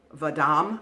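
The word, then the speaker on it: Vahdam: and I believe it's v-a-h-d-a-m it's vadam I guess is how you pronounce it out of India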